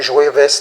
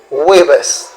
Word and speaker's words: jueves: mercredi, miércoles, jeudi, jueves, on ne dit pas jueves, non, on dit jueves. Pourquoi ça me dit jueves? Parce que la lettre J ne se prononce pas en espagnol.